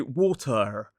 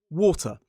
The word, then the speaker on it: water: The modern British RP accent is non-rhotic. So we don't say water, we say water.